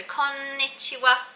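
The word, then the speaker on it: こんにちは: So I've added a little tip with an asterisk, and it says to emphasize the n sound. So konnichiwa. And I've got my little infographic here.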